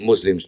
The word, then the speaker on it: Muslim: what we are as Muslims trying to avoid. Well, first and foremost, there's no Z in Muslims. It's pronounced Muslim, not Muslim.